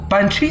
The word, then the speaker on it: Panchi: Mi apellido es Panchi. Se escucha así como Pancho en vez de con O, con I. Ajá. Pero en realidad se pronuncia como con acento, Panchi. ¿Panchi? Sí, ¿Panchi?